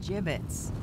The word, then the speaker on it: gibbets: Gibbets? What? It's pronounced gibbets.